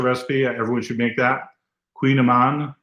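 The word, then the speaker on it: Kouign-amann: I'm glad your son made the kogaman, Queen Aman. That's a very special recipe. Everyone should make that. Queen Aman, even though it's not pronounced like it's spelled.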